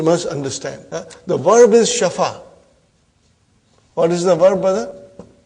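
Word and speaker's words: شفا: and it becomes shafa this yah is also alif because we are pronouncing actually it is shafaya okay but the lam kalima is ya it is nakis so we pronounce it as shafa shafa but then when you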